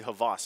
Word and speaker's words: Havas: And my co-caster at the time, shout out to Sona, he said that it's actually Havas, and he had asked him personally how to pronounce it.